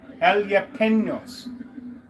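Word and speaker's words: jalapeños: I was saying it wrong. Elapenos, right? Not pinos.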